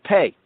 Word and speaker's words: Pe: 8 verses down, we have Pei. Now, Pe or Pei can also be pronounced as Fe or Fe. Pe or Fe.